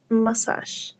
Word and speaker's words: massage: Because if you pronounce like a letter E, it's massage, but massage is different than massage, massage. We have one minimal pair that only change, that is the letter A, okay? A with E, massage, massage, okay?